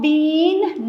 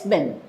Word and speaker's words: been: Do not pronounce it long been. No, it's been.